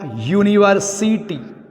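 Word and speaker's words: university: अगर आपका वर्ड कुछ इस तरह का आया, यूनिवर्सिटी, यूनिवर्सिटी स्टूडेंट, यूनिवर्सिटी के छात्र, भावल से शुरू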